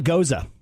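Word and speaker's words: Gose: of oh do tell it's called a goza goza goes exactly is actually it's spelled gos see it's a German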